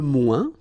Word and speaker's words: moins: the plural form, les moins. Okay, so le moins, remember when we combine this O-I-N together, we get the sound ouin, ouin, ouin, okay, and we don't pronounce this final S.